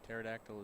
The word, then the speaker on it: pterodactyl: I believe the letter you're not supposed to pronounce in pterodactyl is a P.